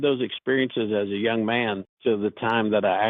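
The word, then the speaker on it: מדע: It's the prequel to Mada, by the way. I pronounce it ma.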